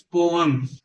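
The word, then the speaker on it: poem: When we read पोएम्स, पोम नहीं, mostly लोग पोम पोम करते हैं, पोएम भी नहीं है तो पोम भी नहीं है। The correct pronunciation is पोअम, पोअम।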